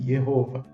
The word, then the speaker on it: Jehova: divino aqui como jehova a gente pronuncia aqui com som de J né sabemos que em alemão é o som de i jehova mas de qualquer forma